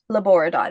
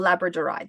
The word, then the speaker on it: labradorite: This is ribbon stone and this is labborite or labradorite depending on how you like to pronounce it.